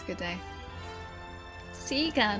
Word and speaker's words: Sega: Yes, I know that Seager and Sega are both proper pronunciations, but I grew up saying Sega, so it's still Sega.